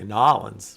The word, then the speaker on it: New Orleans: say it I think I think I just say New Orleans but I should probably say New Orleans I should probably say nollins what I should say um all right so